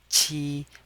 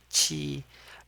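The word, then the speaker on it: 七: And the the Q sound has a sound like ch sound and we pronounce it as chi with the first tone chi.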